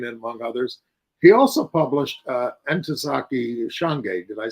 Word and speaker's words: Ntozake Shange: He also published Ntozake Shange.